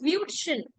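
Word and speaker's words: Würstchen: Yeah, it's Wutschen.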